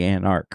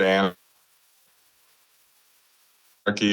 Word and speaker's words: Anarky: do It's just the Anark, right? That's how you pronounce that? Well, I I think it was a play on the word Anar ky, it's the Anarky EP.